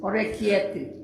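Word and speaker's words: Orecchiette: one that starts with O that I cannot pronounce is little ears. Orecchietti.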